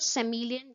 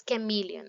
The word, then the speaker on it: chameleon: You see, it's not chameleon. Don't confuse it. It's pronunciation by calling it chameleon. It's chameleon.